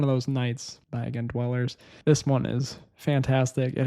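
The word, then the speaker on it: DWLLRS: This is a brand new one by the artist Dweller's. It's spelled d w l l r s. So, basically like Dweller's but without the vowels, I guess.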